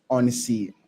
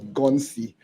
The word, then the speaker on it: Ghonsi: So let's dive into what you're building at on sea. Honestly, before I was pronouncing this as Gonsi, but yeah, you pronounce it properly, probably it's called on sea.